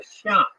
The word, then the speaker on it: Xia: Chinese history which is called the Sha uh that's spelled xia in modern Western romanization system the pinion system of uh of spelling Chinese words the Sha uh the